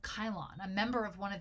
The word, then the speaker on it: Cylon: from the Areopagus named Kyle on or Cylon if you prefer to pronounce it with a C Kyle on was a